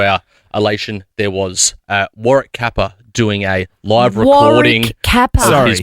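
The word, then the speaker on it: Warrick Capper: So we walked in and uh much to our elation there was uh Warrick Kappa doing a live recording his podcast. Say it. Say it. Say it properly. War kappa.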